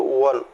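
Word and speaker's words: one: तो यहाँ हमको देखना क्या है कि वन लिखा हुआ है, वन वोवेल है, वो वोवेल है लेकिन प्रोनाउंसिएशन करते हैं तो वन, वा वकील, वन।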